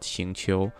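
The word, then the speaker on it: 行秋: Now if you're wondering how his name actually pronounced, the Chinese pronouncing is called Xingqiu. Xingqiu is probably the closest one I've heard.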